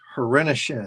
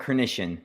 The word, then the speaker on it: Hrenishin: opportunity to welcome Hrenishin. Did I say it right? Close. It's Hrenishin, but no worries. Everyone messes it up.